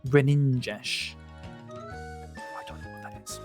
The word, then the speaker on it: Greninja: It's pronounced Greninja.